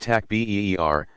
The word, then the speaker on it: takbir: Basic prayers include the takbir, saying Allahu Akbar, pronounced takbeer, spoken 4 times, interspersed with longer devotional prayers calling down blessings on the deceased and on all present.